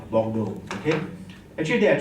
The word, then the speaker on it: Bordeaux: So the correct pronunciation we don't talk about the English way of looking. It's called Bordeaux.